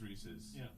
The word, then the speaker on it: Reese's: re it's a re it's Reese's Reese's versus Reese's Reese's Pieces not Reese's pces love sing you to you